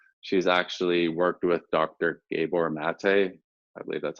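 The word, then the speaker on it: Gabor Maté: helpful and so she's actually worked with dr gabor mate i believe that's how you say his name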